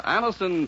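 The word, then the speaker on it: Anacin: delighted with the results ask your druggist for Anison today Anison is spelled a n a c i n and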